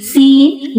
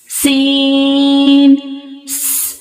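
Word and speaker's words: سين: Please read seen with whistle sound like this. Seen, seen, seen.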